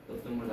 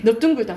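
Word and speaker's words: 넓둥글다: 근데 선생님이 네 가지는 비읍으로 발음된다 했죠. 넙둥글다 넙죽하다. 오케이. 넙둥글다 넙죽하다. 넙적하다 밥다. 이건 네 개는 외우라고. 이거는 비읍으로 발음된다고. 그리고 너, 그리고 끈타죠.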